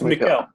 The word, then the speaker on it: Mykel: No, it's Mykel. It's Mykel.